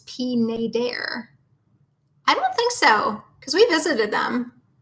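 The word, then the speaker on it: Pineider: pronouncing pnai der wrong it isn't pin I derp its peen a dare I so because we visited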